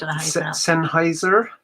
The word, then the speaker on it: Sennheiser: Sennheiser.